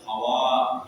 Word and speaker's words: Hawa: Hawa bil maddi. Bacanya harus Hawa, gitu, jangan Hawa saja. Dengan memanjangkan kalimat akhirnya Hawa bil mati min dir'in min adla'u yusra.